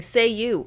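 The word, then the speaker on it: Cei-U: He has a genie that's bound to him that he can summon by saying, "Say you." It's not spelled that way, but that's how you say it.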